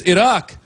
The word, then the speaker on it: Iraq: It's not Iraq, it's Iraq.